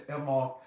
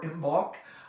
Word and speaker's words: Imbolc: Yes, I celebrate Brigid's Day and Brigid's Night, but I also celebrate the whole period of time known as Imbolc or Imbolc or Imbolc, different pronunciations for that.